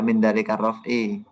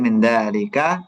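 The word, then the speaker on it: من ذلك: Maka dibacanya arrofu bukan arrof'i bukan minalik tapi minzalika koma kayak gitu ya.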